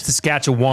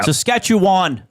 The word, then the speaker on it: Saskatchewan: Saskatchewan. They overpronounce it. Yeah. Saskatchewan, not Saskatchewan.